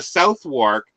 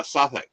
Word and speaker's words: Southwark: the two but the South work anybody who there's no way somebody coming to that word would ever know that you should be calling it uh sathic you haven't even pronounced